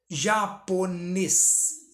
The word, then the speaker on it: japonês: Japonês. Japonês, tá vendo? O ne se destaca, última sílaba, oxítona.